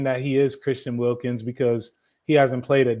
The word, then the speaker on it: Wilkins: Sorry, I kept saying Wilkinson. It's Wilkins.